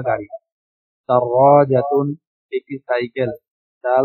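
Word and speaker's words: دراجة: দাররাজাতুন একটি সাইকেল, দাল র আলিফ জিম তা, দাররাজাতুন একটি সাইকেল। জি, শব্দগুলো উচ্চারণ আমি আবারও বলছি, যাদের উচ্চারণগুলো ভালো করে শুনেন না, মনোযোগ দিয়ে শুনবেন।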